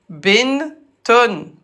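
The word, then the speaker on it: بنت: Binton se prononce Bint.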